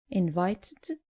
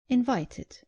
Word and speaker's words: invited: Just make sure you pronounce the e clearly. So, not invited, but invited. And not demanded, but demanded.